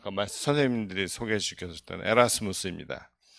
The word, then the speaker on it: 에라스무스: 이유는 뒤에서 설명 드리겠지만 고전 라틴어 바른 그대로 읽어서 에라스무스 라고 저희는 고집하고 있습니다 국립국어원이 표기를 바꿨으면 좋겠는데